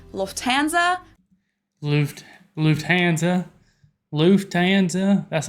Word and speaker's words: Lufthansa: But in German, we say Lufthansa. So the emphasis is on the first syllable, Lufthansa versus Lufthansa.